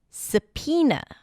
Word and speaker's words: subpoena: The next word is subpoena. Subpoena. The word is spelled with a B sound, and then there is an O there somewhere.